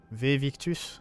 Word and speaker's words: Victus: On va ramener les preuves à Victus, c'est comme ça que ça se prononce.